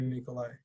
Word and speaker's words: Nikolai: Nikolai is the way you spell it, but it's actually Nikolai.